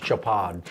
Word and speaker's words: Chopard: the jewelry world uh it's pronounced japan basically what this woman